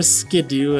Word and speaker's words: Skiddo: Reverse foil Skiddo, or Skidoo, I think it's officially pronounced as. I always call it Skiddo, and I always will, I'm sorry.